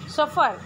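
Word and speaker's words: सफ़र: लेकिन जब यहाँ पे हो जाता है तो सफर, इसके साथ में एक साइलेंट सा कुछ ध्वनि छुपा हुआ है ना, सफर।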